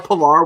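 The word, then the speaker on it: Pillar: __ ] diving catches his name rhymes with valar vallar pilar we have all we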